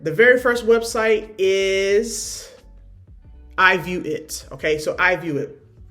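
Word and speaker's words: IVueit: This is I view it. All right, so I view View it. So it's spelled a little bit differently. I V ue it.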